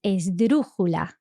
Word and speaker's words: esdrújula: So there's a word for a word that's stressed on the third last syllable. Yes, which is esdrújula. It's a crazy word. Esdrújula. And really interestingly, this word is an esdrújula itself.